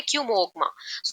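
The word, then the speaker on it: Chomolungma: calls it Qayyum गमा ये spelling है सी एच ओ एम ओ एल यू एन जी एम ए इसे हम पढ़ते हैं कमग मा तिब तरन लोग इसको कमोगवा कहते हैं माउंट एवरेस्ट को व्हिच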